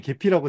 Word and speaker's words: Gephi: 쓸 때에는 개파이라고 쓰고요 실제 읽을 때는 계피라고 자주 읽습니다 개별주 선생님은 이게 유튜브에 이거 뭐 관련된 영상 올라와 있는 걸 제가 좀 예전에 본 적이 있었는데 이제 해외에 계신 분들도 이걸 다 다르게 발음을 하더라고요 그래서 뭐 어떻게 읽어야